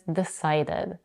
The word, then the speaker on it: decided: rate is rated and the past tense of the site is decided both verbs end with UD in their past forms so when it comes